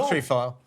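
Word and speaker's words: Countryfile: the be he has country file country file please emphasis on the first syllable more than Matt Baker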